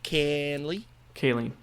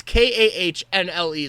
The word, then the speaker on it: Kahnle: Kaline. No way. Yep. Kaline? Yep. No. It's Kahnle.